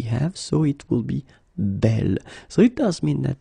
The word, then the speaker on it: bel: So it's actually quite interesting because in this case, beau homme, well, you can see that phonetically it's quite challenging to produce.